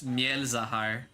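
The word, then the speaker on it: Malzahar: And already Malahar taking a bit of damage from Sairo. Bizahar, please. Bizahar. Uh, I think in Spanish it's Mel Zahar, which Mel means honey in Spanish.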